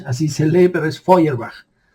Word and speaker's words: Feuerbach: Feuerbach, así se lee, pero es Feuerbach. Así se pronuncia en alemán.